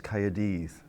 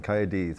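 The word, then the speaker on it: Cymru: cardiff oh cardiff well the welsh is coyotes there's a lot of spitting going on coyotes but i would just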